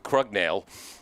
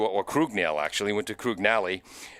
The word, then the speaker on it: Krugnali: Number 6 is Jacob Krugnali. So our second pronunciation was right. We started with Krugnale, went to Krugnali.